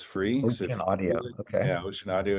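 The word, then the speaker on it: ocenaudio: Yeah, Ocean Audio. It's spelled funny. It's OCEN Audio, and it's free.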